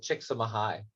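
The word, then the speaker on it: Csikszentmihalyi: name's season mihai so he actually pronounced it chick some high kicks in my high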